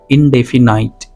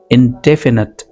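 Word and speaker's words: indefinite: अब यहाँ पर स्टूडेंट्स इसे क्या कहते हैं, इनडेफिनाइट, ये रॉन्ग प्रोनाउंसिएशन है, आपने कहना है इनडेफिनेट, इनडेफिनेट। यहाँ पर ये जो छोटा सा मार्क देख रहे हो आप, इसका मतलब इसे थोड़ा सा जोर से बोलना है, स्ट्रेस दे करके बोलना है, इनडेफिनेट, इस तरह से।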